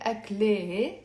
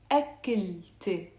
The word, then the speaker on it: أكلتي: So we're not going to say أكله, we're going to say, pronounce it with me, أكلت, أكلت. So notice I'm pronouncing the T plus adding the ye in the end, which means my.